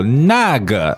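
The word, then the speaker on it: 那个: is instead of okay so nag fourth tone and neutral fourth tone is falling it means that right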